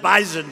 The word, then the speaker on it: bison: about bison I said I thought it was an S they said it is but it's pronounced bison so we didn't want to